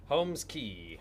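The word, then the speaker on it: Holmes Cay: But yeah, like, and so Homeskey does have this. So this is actually it's called Holmes. Homeskey. Holmes. It says K, but it's key. Okay. That's the way it's pronounced.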